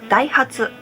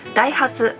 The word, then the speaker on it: Daihatsu: not so sure how people in those countries pronounce this brand but in Japan we call them Daihatsu their name Daihatsu comes from two words they comes from Osaka